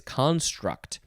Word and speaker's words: construct: No, this one, the emphasis is on the first syllable, so it is construct.